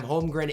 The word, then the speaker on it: Holmgren: Now, I pronounce his name wrong sometime. Holmgren is right.